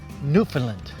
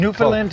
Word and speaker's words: Newfoundland: to the program Mike D here we're in Newland right that's how you say it awesome pronunciation newand newand newand Canada it's spelled New Foundland but